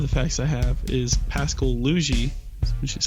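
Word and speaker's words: Pascal Laugier: One of the facts I have is Pascal Luigi, which is how you pronounce it.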